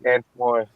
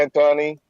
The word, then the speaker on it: Antoine: I'm like, no, it's Antoine. I'm like, okay, Anthony.